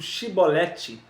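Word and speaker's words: שיבולת: que chibolete está nos mostrando que quando eu pronuncio chibolete da maneira correta em vez de si eu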